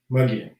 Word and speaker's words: Mogollon: Mogollon Monster? Yeah, it's Muggian.